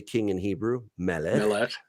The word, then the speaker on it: Melech: Melech.